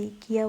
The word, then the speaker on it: IKEA: हम लोग तो यहाँ पे ईकिया बोलते हैं क्योंकि स्वीडन में जो है वो आई को ई पढ़ा जाता है, तो इसलिए हम यहाँ पे इस तरह से ही प्रोनाउंस करते हैं।